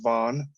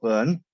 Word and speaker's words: Vaughn: First of all, it's Vaughn, not Byrne.